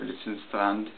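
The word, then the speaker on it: Litzendraht: with the Lützenstrand wire, Lützenstrand, as it would be pronounced in Germany English, or in, yeah, never mind.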